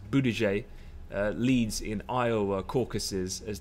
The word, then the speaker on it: Buttigieg: the results come out I believe his name is is pronounced boo DJ Leeds in Iowa caucuses